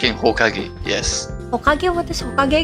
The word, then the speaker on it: Hokage: Just like in Hokage, yes. Hokage? What is Hokage again? Yes. Hokage is actually the first kanji is ki, like fire, but it's pronounced as ho.